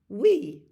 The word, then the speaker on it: oui: French, you might have heard this word, oui.